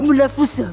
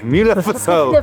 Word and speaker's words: Múlafossur: I haven't looked Quick, look now Cram a little Waterfall in English is 'waterfall' Múlafossur OK Múlafossur How's it pronounced in Old Norse? Who knows Something like Múlafossur At this waterfall there's a viewing platform and